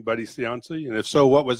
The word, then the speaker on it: Buddy Cianci: Cianci is how do you say his name Buddy Cianci you know so what was he like I have a picture of Buddy Cianci in my office and briefly who he is